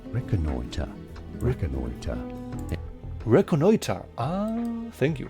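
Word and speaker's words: reconnoitre: This is said as reconoiter.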